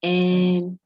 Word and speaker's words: enthymeme: a valid argument, logistic argument, is called an enthymeme. Hey, yes, enthymeme. It's spelled E-N, E for Emmanuel, N.